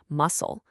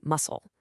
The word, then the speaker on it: muscle: Take the word muscle. We don't say muscle, right? We say muscle. Same deal with scissors, fascinate, and scene. In every single one, the C just disappears and lets the S do all the work.